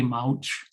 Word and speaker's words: Mauch: ellsworth tui or wesley mauch who a surprising number of people pronounce mooch even though it's not spelled that way i think that was